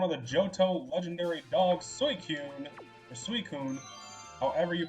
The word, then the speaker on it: Suicune: the Johto legendary dogs, Suicune. However you pronounce it. For whatever reason, when I was little, I always pronounced it like Suicune, like it was suicide, but I know that is absolutely incorrect.